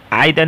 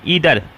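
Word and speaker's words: either: जैसे आइदर, इच, नाइदर, आइदर नहीं ईदर, जिसको आइदर नहीं पढ़ते हैं ईदर, या इच, जिसको देखिए यहाँ प्रोनाउंसिएशन दिया है ईदर, इच, हम लोग आइदर पढ़ते हैं, आइदर नहीं होगा ईदर, इच, नीदर, उसके बाद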